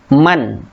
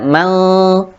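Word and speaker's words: مَنْ: Kemudian di sini nun sukun bertemu dengan hamzah, dibaca man, jelas, tidak mal, akan tetapi dibaca jelas, yaitu man amana, man amana.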